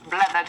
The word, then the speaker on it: Blethered: Joining us this morning to go through the papers properly is broadcaster and host of Blethered. Am I saying that correctly? You're saying it correctly.